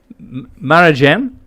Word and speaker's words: Marjan: Marjan. How do I pronounce coral? Marajan?